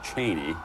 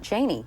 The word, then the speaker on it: Cheney: So, someone's gotten to Pete and said, "It's Cheney, not Cheney." Well, I you know, when